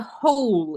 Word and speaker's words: whole: word is on the whole Yes W is silent on the whole yeah